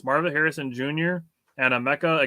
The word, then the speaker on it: Emeka: So, like, I had the Emeka part, and it's the same as Emeka Okafor.